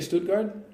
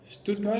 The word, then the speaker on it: Stuttgart: How do you say Stuttgart? Stuttgart?